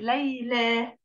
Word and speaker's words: ليلى: في الحروف للالف اللينه اذا جاءت في اخر الكلمه ياء او الف بتنطق الف زي ليلى ايه ده يا مس اخرها ياء ونطقها الف نعم لانها الف لينه